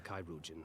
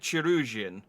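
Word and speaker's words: Chirurgeon: the care of a Kairujan without delay. I feel like Thancred was saying that to me. Also, I now realise I'm pronouncing Kairugan wrong as well. I'm pronouncing it Chirugian.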